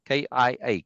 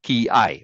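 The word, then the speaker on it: 気合: yes k i i k i a K it's pronounced with a split in the syllable which is common in Japanese and they don't use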